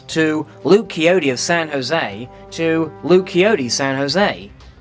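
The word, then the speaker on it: José: was not aware that the J in Jose is supposed to be pronounced like an H it was an honest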